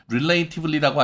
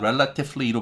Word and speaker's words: relatively: relativelly라고 하시면 호주식 발음이라 좋지 않으니까 relatively로 발음하셔서 영국식이나 미국식으로 발음하시는 게 좋겠다라고 말씀드린 바가 있습니다.